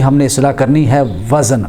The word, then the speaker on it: وزن: اصلاح کرنی ہے، وزن۔ اکثر ہم کہتے ہیں وزن، یہ لفظ وزن غلط ہے، یعنی زال کے اوپر زبر پڑنا غلط ہے، بلکہ یہ صحیح تلفظ ہے کہ زال کے سکون کے ساتھ وزن ہے، اور قرآن مجید میں یہ لفظ آیا والوزن یومئذ الحق، لہذا اس کو وزن پڑھنا چاہیے، وزن نہیں پڑھنا چاہیے۔ نمبر 2، اکثر لوگ